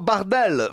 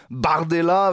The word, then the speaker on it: Bardella: leur donne Mordella alors Jordan Bardel parce qu'au prononce à la française n'est-ce pas Jordan Bardella vous avez un prénom